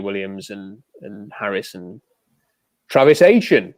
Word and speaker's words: Etienne: There is no pronunciation where that is ETN, right? It's either Etienne, like Saint Etienne in France, or it's Etienne, because that is how it's pronounced in Europe.